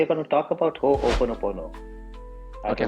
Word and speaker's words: Ho'oponopono: Yeah, it's you can break it into three parts, I would say. So Uh-huh. Ho'opono, and then pono. Ho'opono. So it's an Hawaiian word.